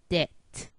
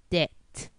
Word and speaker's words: debt: B is also silent when it precedes T, as in doubt, debt.